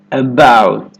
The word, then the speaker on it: about: Instead of that true T, at the end of most Americans are going to hold that T about. My tongue tip goes to the ridge behind my teeth and just stays there.